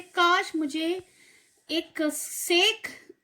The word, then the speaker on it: sake: Sa is pronounced like fa in father and K rhymes with V.